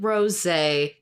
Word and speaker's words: Rosé: next one is so do you say her name like rose or is it Rosé cuz sometimes I say Rose sometimes I say Rosé because of the accent it should be Ros